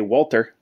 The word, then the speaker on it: Walther: a look at a Walter and yes I use the hard T because that's how they pronounce it a Walter actually Walter